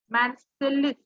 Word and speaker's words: Marseille: So that this is the name of the place, Marseilles और Marseille.